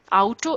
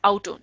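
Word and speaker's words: Auto: ich harbour eine Otto Otto is car it's not Otto in German because a you sound would be au so it is Otto oh sorry it is out of not Otto ich habe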